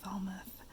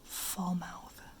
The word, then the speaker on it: Falmouth: oh there's one falmouth i think this is pronounced falmouth even though part of me would love to call it like fall mouth falmouth oops it's in